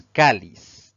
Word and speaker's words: cáliz: La segunda palabra es cáliz. Tiene 2 sílabas. La mayor fuerza de voz al pronunciarla recae en la penúltima sílaba contando siempre de derecha a izquierda. Eso la convierte en una palabra grave.